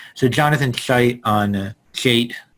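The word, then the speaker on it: Haidt: buzzwords right so jonathan scheidt on jade i'm pronouncing it like it's jonathan hype but you know the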